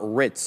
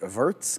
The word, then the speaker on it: Wirtz: It's not Ritz, obviously. Is it Wirtz? Because he's German, right?